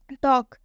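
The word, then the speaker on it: talk: वॉक, वॉक में भी के से पहले एल आया, और जब भी के से पहले एल आएगा तो रूल में बताया गया है एल साइलेंट हो जाएगा, तो इसलिए यहाँ पर एल साइलेंट हो गया है।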